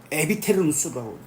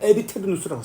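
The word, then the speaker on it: aeviternus: 그래서 교회 용어로는 에테르누스라고 읽습니다. 아에테르누스는 이거는 일반적으로 쓸 때 시작이 있는 영혼은 에비테르누스라고 단어 씁니다.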